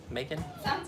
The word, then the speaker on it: Macon: i pronouncing it right it's kind of like bacon but with an m macon we went through there